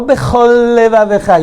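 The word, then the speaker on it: בכל לבבך: Ve'ahavta et Hashem Elohecha bechol, very common mistake, leafrid, separate. Lo bechol levavecha, you're missing lamed.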